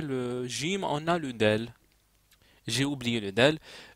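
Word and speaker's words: دال: Gym on a le del j'ai oublié le del le D en effet le D d ça s'écrit comme ça c'est l'équivalent de d voilà désolé d'oublier ça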